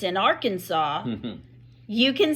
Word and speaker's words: Arkansas: Gathering Place correct but once that River hits Kansas it's called the r Kansas River and that is true 100% true it comes out of Colorado it's the Arkansas River it hits the Kansas